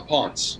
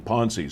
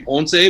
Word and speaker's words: Ponce: she pronounced the name ponzi so i didn't want to mess it up okay no you know it's actually uh it's spanish so it's actually ponce but i just say